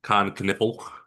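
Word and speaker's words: Kon Knueppel: Hornets, uh drafting Khan Canipple, is how you say that guy's name at number four.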